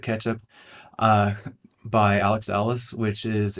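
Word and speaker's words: k3sup: There is K3s up, or I think he typically pronounces it ketchup, by Alex Ellis, which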